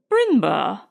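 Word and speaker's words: Brindlebury: of the last candidate my name ma'am he replied is b r i n d l e b u r y brindleberry pronounced binur the old Sussex name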